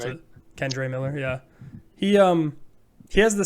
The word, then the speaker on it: Kendre: We got, I don't know if it was Kendra or Kendre. I always forget how you pronounce it. Kendre Miller, yeah.